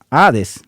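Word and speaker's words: hades: La palabra griega ades y se escribe h a d e s significa simplemente sepultura o fosa, es decir, un simple hoyo en la tierra, la tumba.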